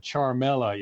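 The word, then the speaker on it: Ciaramella: with a whistleblower that this man charmella is how you pronounce it is not a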